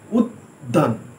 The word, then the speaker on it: উদ্যান: হর্ষ দয় জফলা আকার দন্তেন্য, কিন্তু উচ্চারণ যখন করছি আমরা উদ্যান, একটু উদ বলে থেমে গিয়ে তখন আমরা দান বলছি।